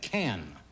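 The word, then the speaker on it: Cannes: an as in Canada can a port in in France can c a an k k a an is pronounced not con is that a French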